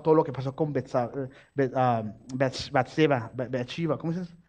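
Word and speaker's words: Betsabé: Ya habría pasado todo lo que pasó con Bathsheba, ¿cómo se dice? Batsabé, ya habría pasado todo lo que pasó con Goliat, ya habría pasado todo lo que pasó con todas las guerras.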